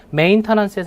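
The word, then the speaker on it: maintenance: 부서져 메인터넌스 들으셨나요 물론 메인터넌스 티 발음을 잘 안 하세요 미국 분들은 그래서 메인터넌스 메은 정도의 소리로 메인터넌스 이렇게 발음 하시는데 h 여보세요 하고 나서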